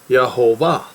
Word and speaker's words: Yehovah: it's not yve or Yahweh no it is yahovah all right so it's not either or you